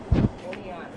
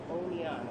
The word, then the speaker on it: Oneida: How do you pronounce this city? Oneida. Say that one more time. Oneida. Oneida. I'm in Oneida, New York. I've been saying that wrong all day.